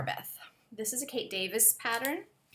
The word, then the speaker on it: Davies: a Kate Davis pattern I do believe you say Davis and even though it's written like Davies I think the names with the IES ending in Scotland in England I think that's how you pronounce them at least in Scotland you do I'm pretty sure Davis yes the car Beth